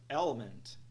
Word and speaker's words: element: fim temos a palavra Element Element Element se colocássemos erroneamente o estresse na segunda sílaba obteríamos algo do tipo el el nada disso pessoal o stress é na primeira sílaba el por focos o